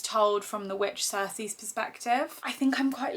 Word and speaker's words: Circe: I feel quite confident that it's pronounced Circe.